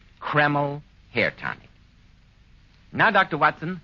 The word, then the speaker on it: Kreml: never greasy or sticky it's spelled k r m l keml hair tonic now Dr